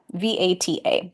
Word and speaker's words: Vata: And so the first one is called Vata, V-A-T-A. In the West, we pronounce it Vata.